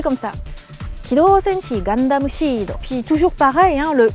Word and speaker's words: Gundam Seed: Ce qui est intéressant là, c'est le seed, S-E-E-D, qui se prononce Shido. Parce qu'il n'y a pas vraiment de si quand on fait Sashisu Seso. Dans la gamme des S, on va utiliser le Shi. On va dire Shido, mais bon, on sait que c'est seed.